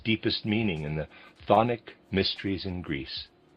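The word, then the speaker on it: chthonic: This fact was observed and studied in its deepest meaning in the thic mysteries in Greece. Readers aside, thonic is spelled ch o n i c. Thic.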